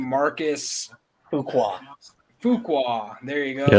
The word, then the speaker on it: Fuqua: Marcus Fuqua.